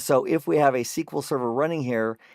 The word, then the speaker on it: SQL: And that's how you say it, SQL server, structured query language server.